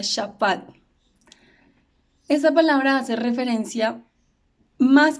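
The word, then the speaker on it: שָׁפַט: Pero cuando revisamos en el hebreo, la palabra que se utiliza aquí para juicio es una palabra que se pronuncia shafat.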